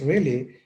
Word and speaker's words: Raleigh: Sir Walter Raleigh, pronounced Raleigh, wrote Elizabeth a long poem, The Ocean to Cynthia.